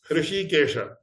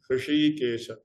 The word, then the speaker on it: Hrishikesha: So, Hrishikesha, it involves a Murdhanya Shakara and Talavya Shakara. Hrishikesha. Ordinary people cannot pronounce it.